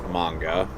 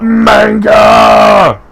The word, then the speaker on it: manga: who that is now if you pronounced it wrong it's manga I know manga which is how Manga